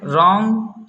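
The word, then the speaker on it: wrong: Rule number 2 है, अगर आर से पहले डब्लू आता है तब डब्लू साइलेंट होता है। जैसे रॉन्ग, राइट, रैम।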